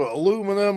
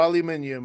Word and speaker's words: aluminium: Well, it's either aluminum or aluminium, and as long as they spell it correctly, they should find it.